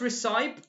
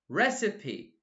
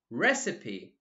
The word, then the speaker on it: recipe: a cake or egg cold recipe it's not recite recipe recipe careful pronunciation recipe many many many ok perfect of course eggs